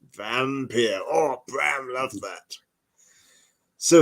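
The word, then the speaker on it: Wampyr: most certainly have been the W's are pronounced with a V so it's not wampit it's vampire or brown love that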